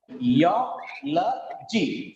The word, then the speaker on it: geology: Geology. Four syllables are there. Third from last is A.